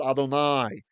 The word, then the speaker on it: Adonai: a patach here because they knew we should pronounce this word as Adonai.